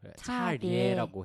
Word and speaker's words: 차례: 근데 리에 발음을 살려야 돼요. 차례라고 해줘야 된대요. 발음을. 그 이유가 이제 이 이중모음이잖아요. 리에가 네. 이중모음이라서 표준 발음법에서는 이중모음이 발음되는 게 원칙이에요. 네. 근데 이제 예, 리에 이외에 나머지는 에로 발음해도 되는 거죠. 예를 들어서 지혜 이거는 예와 레가 아니니까 지혜나 지혜로 발음해도 되는 거예요. 둘 다 네. 허용이 돼요. 근데 차례 같은 경우에는 레는 무조건 이중모음을 발음해 줘라. 이게 원칙이기 때문에 차례라고 발음을 해야 돼요.